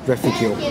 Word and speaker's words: Reficule: Well, it's pronounced Reficule.